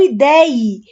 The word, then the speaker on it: ideie: Ou idear, que eu ideie. Veja que tem o acento na fala, na fonética, mas não na grafia.